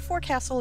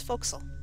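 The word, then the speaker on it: forecastle: ship the bow the foxel deck right there yes i'm going to use the correct way of saying it the more traditional way of saying it i suppose it's not for castle it's foxel granddaughter of a navy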